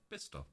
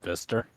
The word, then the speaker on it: Bicester: You pronounce this one Bister. Oh, it's just Bister. Oh, so the from. C is silent.